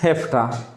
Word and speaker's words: have to: और जब ये VE आता है तो VE फ की तरह आवाज़ देता है, हैफ्टा।